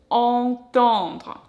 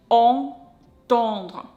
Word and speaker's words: entendre: And here we've got two nasal A. Entendre, entendre.